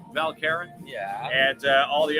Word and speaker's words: Val Caron: stores where we're at here in valkerin i say it properly val karen yeah and uh all